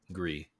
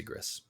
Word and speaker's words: Gris: A lot of people do say Gris. And I don't know how they say it, but Gree is gray in French, and I'm pretty sure that's what they were going for.